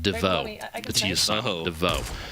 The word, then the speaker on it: Divot: or if it's the fancy divot we call that we pronounce it Dafoe Oh fine now that's